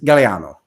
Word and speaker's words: Gagliano: So every time I read it, I would say Gagliano. And that's fine. That's normally how I will let people say it. If I have to pronounce it phonetically, I'll say Gagliano, so people know how to spell it. But in Italy, and I even asked just to make sure that I was pronouncing it correctly. The proper is Galliano.